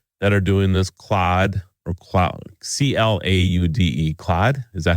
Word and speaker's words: Claude: Claude, C-L-A-U-D-E, Claude. Is that how you say it? I suppose. I always want to say cloud, but that's not right.